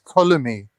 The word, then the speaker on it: Ptolemy: this is It's Ptolemy. It's The silent Ptolemy. P. I thought a Christian would know about silent P's.